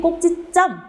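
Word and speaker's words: 꼭짓점: 그런데 발음이 꼭지점, 사이소리가 나죠.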